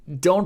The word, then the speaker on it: ろ: Do is pronounced like a combination of ro in road and lo in load. In British English, it's more like ro in rot or lo in long.